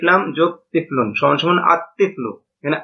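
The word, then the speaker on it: الطفل: তিফলুন আলিফ লাম যোগ তিফলুন সমান সমান আতফলু এখানে আল তিফলু এটা গলত উচ্চারণ লামটা উচ্চারণ হবে নাভাবে রজুলন আলিফ লাম যোগে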